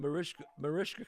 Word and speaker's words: Mariska: I think the relationship between you and Mariska, am I saying it right? Mariska, Rishka, yeah.